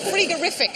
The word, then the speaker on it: frigorific: Frigorific sounds like something Del Boy might say, but what is it? Actually, I suppose it's probably rather badly spelled. We should pronounce cold. Should pronounce it frigorific, probably.